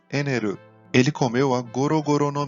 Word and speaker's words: Enel: Vamos agora para um dos vilões preferidos de muita gente, o Enel, ou na pronúncia em japonês, Eneru.